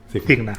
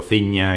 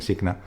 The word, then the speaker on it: Cigna: Mi compañía, pues es verdad porque yo lo he oído pronunciar de muchas maneras, pero bueno, nosotros la llamamos Cigna. Cigna. Sí, he oído Ciña, he oído muchas cosas.